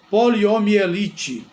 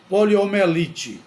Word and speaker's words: poliomielite: pronuncia de forma inadequada poliomielite o nome correto é poliomielite mas muita gente pronuncia poliomelite poliomelite sem o i Mas neste caso é necessário usar o i a palavra quem trabalha